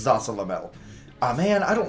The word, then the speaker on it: Zasalamel: I had a hard time pronouncing his name as a kid. It's Zasalamel.